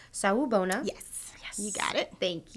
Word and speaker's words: Sawubona: Sawubona.